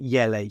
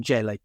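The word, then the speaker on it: Jelle: ever watch I don't I think it's pronounced yell rather than jell y's marble run yes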